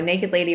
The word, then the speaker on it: NKD LDY: that don't know it's it's spelled or stylized nkd ldy yes yes so naked lady without the vowels um well so I